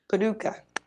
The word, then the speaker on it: Paducah: What's happening in Paducah? I know someone's going to correct me. I know I'm saying it wrong. Paducah.